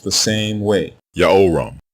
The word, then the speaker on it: Jehoram: Another mispronounced royal name is the name of the king people call Joram and Jehoram. His name is spelled two different ways in ancient Hebrew.